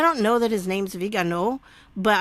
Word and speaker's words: Viganò: I don't know that his name's Viganò, but I would assume that the accent on the O at the end is a stress.